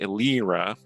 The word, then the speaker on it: Elira: But, Well, do recall that with the elven accent, her name is more accurately Elira. Elira, yeah. But when you're but she does tend to prefer just the human pronunciation because she's more like